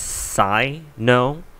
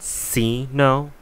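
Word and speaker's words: Cyno: Katakana um I was told his name is pronounced Psy no um and not C no um I guess we're going to be debating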